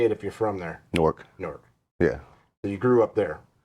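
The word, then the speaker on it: Newark: norc n how so how do you say it if you're from newor just like Fork but norc norc yeah we say it wrong local so it's not New York it is New York but how you say it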